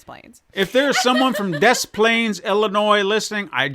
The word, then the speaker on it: Des Plaines: If there's someone from Des Plaines, Illinois, listening, I said it right this time.